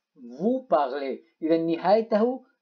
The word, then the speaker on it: parlez: إذن Z لا تلفظ. vous parlez.